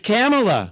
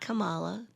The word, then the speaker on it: Kamala: say thank you okay that's it it's camela camela camela so whoopy Goldberg had it wrong and Al Sharpton Jesse Jackson Bill Clinton Joe Biden M brazinski they had it right it's camela camela it's not Cala and it's not it's not Kamala or Kamala it's certainly not Kamala no it's you heard